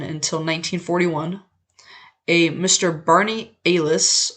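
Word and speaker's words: Allis: 1941 a Mr Barney Alis or Alice I'm not actually sure which way it's pronounced I think it's Alis a l l i owner of the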